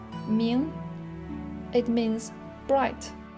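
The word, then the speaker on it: 明: It's pronounced Ming.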